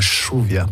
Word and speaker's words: lluvia: On dit pas on dit la chuvia pour dire la pluie au lieu de dire la lluvia. La lluvia, c'est la pluie, la chuvia, c'est chez vous, quoi.